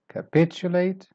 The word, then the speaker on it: capitulate: Next word is start weak and end weak. And the stress syllable here is pitch. Capitulate. Capitulate.